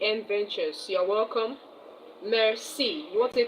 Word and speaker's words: merci: You want to tell someone thank you in French, you say merci. Merci. m e r c i. Merci. Uh I can see someone is joining. Um E D Adventures, you're welcome. Merci.